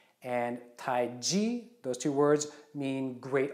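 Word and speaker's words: Taiji: What we should be saying is Tai Chi. And Tai Chi, those two words, mean great ultimate, or really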